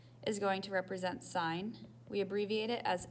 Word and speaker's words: sine: these words pronounced as sine sine is abbreviated as sin we do not pronounce it as sin every student tries to say that it is pronounced as sine cosine is abbreviated as